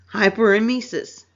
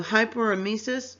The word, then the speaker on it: hyperemesis: So hyperemesis or hyperemesis is excessive vomiting. And I pronounced it both ways because you do hear it pronounced both ways.